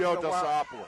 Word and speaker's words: Theodosopoulos: I had him Theodosopoulos. I broadcasted the game. Theodosopoulos. Okay. Theodosopoulos. Yeah, we had him for